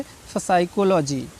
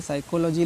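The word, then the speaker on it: psychology: होता है ठीक है पी एस से पहले आया ठीक है एस से पहले आया पी साइलेंट होता है आप देख लीजिए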